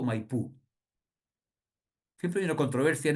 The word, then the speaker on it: Maipú: Y después derivó en Maipú, por un tema de que los argentinos, el idioma eh, nativo, más bien de carácter guaraní, acostumbra a acentuar la última sílaba de las palabras, ¿ah?